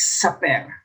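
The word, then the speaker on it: Sapir: have here the saperworf hypothesis i checked the pronunciation it's super it is also known as the linguistic relativity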